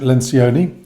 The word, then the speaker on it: Lencioni: Um, today I want to talk to you about this um, the five dysfunctions of a team by Patrick Lencion. That's how you pronounce his name.